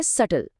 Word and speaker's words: subtle: DEBT को बोला जाता है डेट, DOUBT है डाउट, और SUBTLE, जिसका मतलब होता है नाजुक या बारीक, उसे कहते हैं सटल।